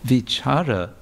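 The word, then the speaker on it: vicāra: to go but also V vichara with a long a would mean to reflect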